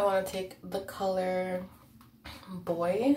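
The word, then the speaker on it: Boie: Now I want to take the color Boy, I think it's pronounced. It's B-O-I-E.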